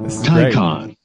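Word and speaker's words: Taycan: has a 19c YouTube video called how to pronounce here it comes tyon tyon tyon wa it just says this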